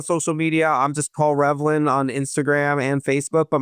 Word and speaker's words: Reavlin: So it's looks like Revelin but it's pronounced Revlin.